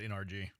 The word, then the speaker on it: NRG: Um you know what annoys me when people say energy park and not NRG?